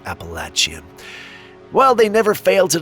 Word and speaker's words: Appalachian: The Appalachian Mountains, and by the way, for those of you that don't know, it's not Appalachian. It actually is pronounced Appalachian.